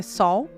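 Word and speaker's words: Seoul: sol Coreia do Sul não é cuu tá gente é sol é mudou pros estos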